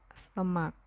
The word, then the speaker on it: สมัคร: ผงาด อ่าน ว่า ผงาด สมัคร อ่าน ว่า สมัคร ฝรั่ง อ่าน ว่า ฝรั่ง